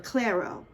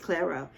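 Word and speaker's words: Clairo: Clero. I think she's it's pronounced Claro.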